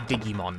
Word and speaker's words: Digimon: go to Monster Rancher instantly excuse you it's pronounced Digimon oh of course I beefed it yet again